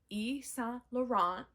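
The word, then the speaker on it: Yves Saint Laurent: I found some vintage Ean laurant look at me pretending to be fancy YSL um it's spelled it's spelled because I'm not French like evees St laurant but it's e st e ston please ignore me I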